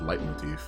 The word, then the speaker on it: leitmotif: And I think it's pronounced leitmotif, because I think it's a German word.